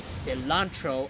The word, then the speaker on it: cilantro: do not forget it I say cilantro ice Cylon as in cilantro not silent I say listen sandre not